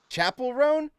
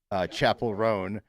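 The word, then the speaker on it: Chappell Roan: Chapel Roan? Online, they said it rhymes with Chappelle, like Dave Chappelle.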